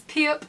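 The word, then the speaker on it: 피읖: character is this one which is piup which is a hard p sound like at the start of the word piano which is the character we're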